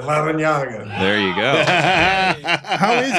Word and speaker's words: Larrañaga: There's a double R, too, right, coach? So you have an R in there also. Can you roll your R's? Yeah, Larrañaga.